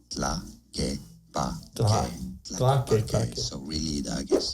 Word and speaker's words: Tlaquepaque: So, 2 different ways of pronouncing it. Now in Spanish, this is said as tlaquepaque, tlaquepaque.